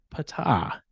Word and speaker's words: Ptah: is Egyptian where apparently the p is pronounced it is pronounced yes so we will be going Pata you will Regale us